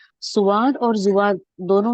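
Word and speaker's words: صاد: तो उर्दू में भी नहीं कहते हम स्वाद या दुआद, हम उर्दू में भी नहीं कहते, उर्दू में भी स्वाद कहते हैं।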